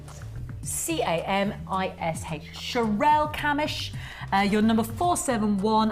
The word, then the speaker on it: Camish: Excuse the pronunciation, he says. Sherelle Camish. C-A-M-I-S-H.